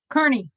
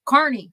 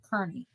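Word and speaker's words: Kearney: they keep talking about is uh Kerney and they keep saying it wrong they just keep saying it wrong Carney no it's not Carney Kerney you know they say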